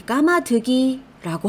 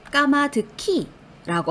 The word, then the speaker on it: 까마득히: 발음을 우선 제대로 해주시면 받침 기억이 뒤에 오는 ㅎ과 만나 키 이렇게 키읔으로 발음이 된다는 걸 알 수 있고 발음을